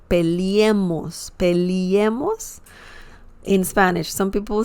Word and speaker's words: peleemos: It's like when you say leer. Leer means to read in Spanish. So similar pronunciation, peleemos, peleemos. Leer, leemos, peleemos. Okay? So, sorry, remember that some people say peleemos, peleemos in Spanish.